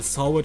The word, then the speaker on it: Sowert: Weil Sowert spricht man aus wie Sawit im Sinne von hat es gesehen.